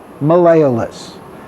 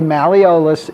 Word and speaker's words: malleolus: and two the lateral malleolus you can say malleolus if you prefer either pronunciation is acceptable but let's take a